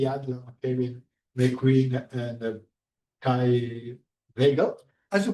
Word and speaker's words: Waegell: Kelvin, McQueen, and Kai Waegell. As you pronounce, Waegell? Waegell. Waegell. Waegell? It's not the original pronunciation. That's how my family says it.